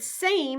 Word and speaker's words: same: it with me same the word same has a vowel followed by a consonant M and a silent E the final e is silent but it lets us know that the first vowel stands for the long a sound a as insane what